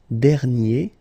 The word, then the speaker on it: dernier: And then second example, dernier, okay? And you will get dernière.